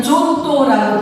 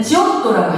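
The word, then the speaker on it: Giotto: 빠르바라고 하는 이탈리아 국보의 도시가 있는데이 화가의 이름이 조또 요게 아니고 조또 조 우리의 한글 표기로는 존또라고 부르는데 원래는 지옥도라고 해야 돼요. 지옥도 발음으로이 지옥도가 여기에 이제에 그 이게 이럴 테면 기회사 어 처치가 아니고 체플예요.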